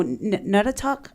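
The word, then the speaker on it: Naugatuck: No, Natuck, I think is how you pronounce it.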